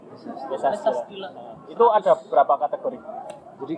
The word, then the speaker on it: MesaStila: Bacanya Mesa Stila. Mesa Stila.